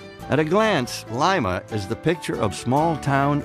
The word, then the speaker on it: Lima: I think part of what's happened in places like Lima is the sense that the social contract's gone.